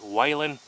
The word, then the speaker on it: Whelen: and watch videos on call it whalen i'm going to call it wellin because that's how it reads whalin that's like waylon jennings and that's spelled completely different but anyways i'm out